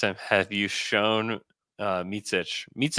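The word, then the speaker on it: Micić: can you you just tell me how it's pronounced mitsich that's how he says it which did you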